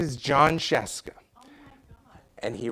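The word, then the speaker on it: Scieszka: as a kid, I didn't know how to pronounce the last name Sheska. Oh, are you kidding? But his name is John Sheska.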